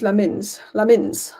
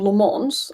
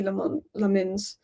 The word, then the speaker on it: Lammens: The way you pronounce Lammens is Lammens. Because half the people are saying Lammens. Some people are saying Lammens. Some people are saying Le Mans. And Le Mans just kind of sounds Belgian.